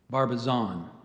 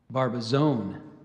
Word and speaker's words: Barbizon: gave you Barbizon yeah so the correct pronunciation Barbizon here's the alternate Barbizon Barbizon b a r